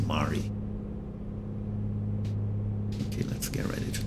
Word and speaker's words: Mary: At Mari. It actually is spelled just like Mary in English, but I believe the pronunciation is Mari.